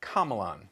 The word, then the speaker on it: Komelon: But it's hard to tell with that sultry accent, so I called the company directly, and a lovely woman named Amy assured me it's Komelon.